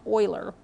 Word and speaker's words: Euler: i know it looks like euler but it's pronounced euler introduced the symbol i to represent the square